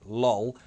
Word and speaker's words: lull: If you ever wanted to say the word lol out loud, you would begin with a light L, finish with a dark L. Your tongue would start hitting the alveolar ridge, and at the end of the word, come here for the dark L.